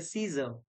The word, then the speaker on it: Caesar: जैसे Caesar, Caesar में यहाँ पर A silent है, hemoglobin में A silent है.